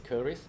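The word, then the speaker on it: Keris: So the Malay word for that is curries. So in English Curries? you can call it Chris. Chris. Okay, so Chris Chris? is fine.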